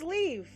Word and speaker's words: Liev: Oh, it's Liev! Okay, it's Liev. So it's Liev, as in, like, bye-bye.